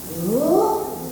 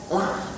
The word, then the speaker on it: Allah: Allah pakai O ininya bukan gini Allah. Nah. Allah. Karena bacanya lo bukan la.